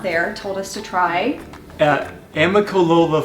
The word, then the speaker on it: Amicalola: Some of the people I'm working with and then some of you out there told us to try Amicalola Falls. Right. 5 syllables. Amicalola Falls for a great hike because we love to get out into nature.